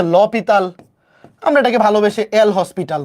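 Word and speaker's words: L'Hôpital: ফেলছি শুধু লা হসপিটাল বা এটাকে অনেকে বলে এল হসপিটাল বা আসল উচ্চারণ হচ্ছে ল পিততাল আমরা এটাকে ভালোবেসে এল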